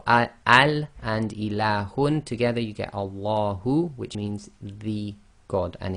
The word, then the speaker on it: Allah: So, so when we pronounce the name of Allah with no preceding sound, then you read the hamza as if it's got a fata. That's why we've got al.